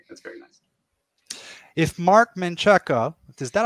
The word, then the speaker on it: Menchaca: If Mark Menchaca, is that how you pronounce his name? Yeah. Menchaca?